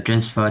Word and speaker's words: transfer: Transfer. Transfer. Transfer. The first syllable. Okay. The first syllable. That is Yes. That is transfer. Yes. Of course. The trans. Yes. Very good. Because this is noun and as a verb.